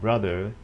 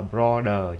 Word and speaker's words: brother: Đừng đọc là brother nha. Brother không phải là O, mà là chữ Á, Á mặt trăng tiếng Việt Nam mình đó.